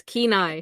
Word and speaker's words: Kenai: minute okay i'm fine it's pronounced it's kenai it's pronounced kenai kenai